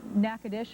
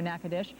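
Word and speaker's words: Nacogdoches: the area above which uh nackadish I'm being told I've been corrected my pronunciation there nakadish but I'm being told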